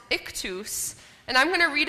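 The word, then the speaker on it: Ichthys: how this word is said this word is pronounced ikus and I'm going to read a bit about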